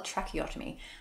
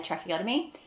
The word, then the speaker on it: tracheotomy: Pronounce that well, tracheotomy.